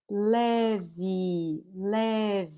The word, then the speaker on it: leve: Leve. So notice that only this first E is open. E. This second one is actually pronounced like this. I. Leve. You see? So the second one is not E.